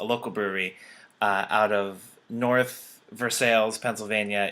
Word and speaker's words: North Versailles: brewery uh out of north versailles pennsylvania if you pronounce it north versailles if you pronounce things